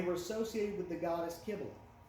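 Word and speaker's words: Cybele: They were associated with the goddess Kibble. I made the mistake of calling her Sybil. It's Kibble.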